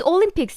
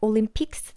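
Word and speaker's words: 올림픽: is olympic what is olympics in korean it's olympic olympic but we don't pronounce the s sound at the end like olympics no olympic olympics so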